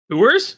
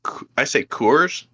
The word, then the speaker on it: Coors: Coors? Because I say Coors, and I feel like you're saying like Coors.